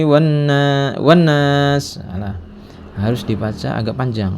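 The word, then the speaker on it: والناس: Wan nas, nasnya mad 'arid lis sukun, ya. Jangan minal jinnati wan nas, salah, harus dibaca agak panjang.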